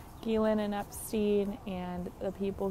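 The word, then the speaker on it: Ghislaine: That's the pronunciation. Ghislain and Epstein and the people who they recruit and hand over trafficking victims to.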